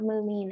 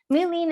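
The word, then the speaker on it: Mullein: And one of the reasons I want to talk about Mulin, it's an amazing herb for the lungs. So it's spelled M-U-L-L-E-I-N, and our slide is not quite progressing like I would hope it to at this moment.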